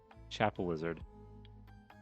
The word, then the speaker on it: Chapelizod: um, that actually, oh, that is actually how it's pronounced. Again, that classic English of just like pronouncing words that either are or aren't there. Chapel Lizard.